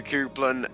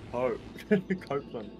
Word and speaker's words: Copeland: You've been saying my name wrong this entire time. How do you genuinely say it? Because apparently I always say it wrong. Yeah, you say cope. Cope. How do you say that? Yeah. Coop. Yeah, you say coop, bro. What are you doing? It's the Cooper, right? Copeland. Copeland. Yeah. Okay, Copeland.